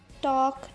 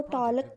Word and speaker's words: talk: टॉक, just टॉक, टी ए और के की आवाज़ आ रही है, एल की आवाज़ नहीं आ रही, हम इसको टॉलक नहीं पढ़ रहे.